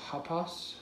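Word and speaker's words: ἅπας: This one's similar to pas upon, but it's got that rough breather. So hapas, hapasa, hapasan.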